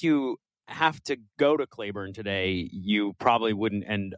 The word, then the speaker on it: Claiborne: you said no, it's the locals pronounce it Clayburn. Um and because unless you have to go to Clayburn today, you probably wouldn't end up in Clayburn.